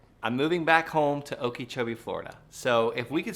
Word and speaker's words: Okeechobee: Okeechobee.